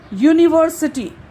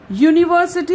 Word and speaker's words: university: For example, here university. University, it is beginning with a vowel. But here it seems, okay, whenever we pronounce, it seems as if it is beginning with Y.